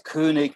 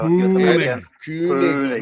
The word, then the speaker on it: Koenig: Well, if you want it pronounce it correctly, it's König, but maybe that's too hard for Koenig.